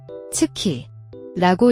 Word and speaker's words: 月: 가진이 친구에 대해 알아봅시다 다를 일본에서는 츠키라고 읽고 음독을 할 때에는 츠 또는 가라고 읽습니다 다음으로는이 한자가 사용되는 대표적인